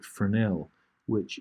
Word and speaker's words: Fresnel: to pick a texture called a Fresnel, which is got a silent S in it.